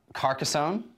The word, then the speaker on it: Carcassonne: Carcassonne. Is that the awesome correct pronunciation?